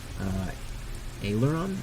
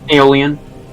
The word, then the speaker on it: Aeolian: And so this seems like the right direction based on how you've been tracking Aileron? Aileron? Am I pronouncing that right? Aeolian. Aeolian. There we go.